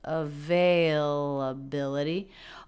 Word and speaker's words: availability: really stretches it out the stressed syllable their availability is bill but the syllable veil availability also has a little bit of stress availability da da da da da da so the primary stress is on the fourth syllable but there is secondary stress on the second syllable availability availability hi do